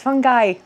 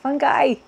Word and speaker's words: fungi: Okay, I'm just jumping in for a second because in the following clip, I pronounce the word fungi wrong. So please ignore me every time I say fungi. It's fungi, fungi.